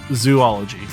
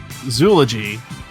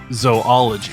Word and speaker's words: zoology: to point out that it's not zoology it's either zoology or zoology oh the proper pronunciation